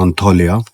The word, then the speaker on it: Antalya: सो अगर आप टर्की आने का प्लान कर रहे हो, so look at this location, that's called अंताल्या, correct pronunciation इसकी है।